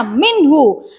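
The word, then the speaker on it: مِنْهُ: Contohnya minhu, ada hak dhamir sesudahnya sukun, tidak termasuk masilah qashiro ya. Bacanya juga pendek, nggak boleh panjang. Minhu, nggak boleh minhu, nggak boleh ya.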